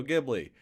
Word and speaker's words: Ghibli: I'd say one of the first things that I'm noticing, especially, well, is it pronounced Gibby? Is that or Ghibli. Ghibli? Ghibli. Ghibli, yeah.